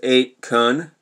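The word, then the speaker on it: 8kun: Watkins and his father Jim, who owns 8QN, I'm pronouncing 8QN because it's spelled 8, you know, K-U-N, together, the anonymous message board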